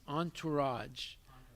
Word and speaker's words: entourage: that worse again raj you're mispronouncing your word that's why i didn't understand it's entourage the entourage means who